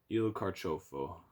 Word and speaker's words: il carciofo: You see how that C-I-O, it's pronounced cho. Il Carciofo.